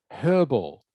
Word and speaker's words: herbal: By the way, you'll often hear Americans pronounce this word as herbal. They drop the H.